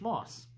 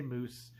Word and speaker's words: Moos: It's just, with the German language, if you want the aw sound, you use 2 O's.